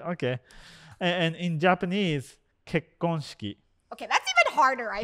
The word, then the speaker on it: 結婚式: And in Japanese, 結婚式. Okay, that's even harder, I think. What? Right? Tell me if I'm wrong. 結婚式. Wait, what? 結婚式. 結婚. Shiki. Shiki. Kekonshiki.